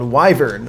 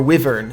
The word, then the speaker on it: wyvern: was an old tcg called wyvern or wyvern as some people might pronounce it it was a tcg